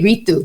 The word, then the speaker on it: Ritu: And so there are people in India who say Ritu the way you said it. So actually you didn't pronounce it incorrectly.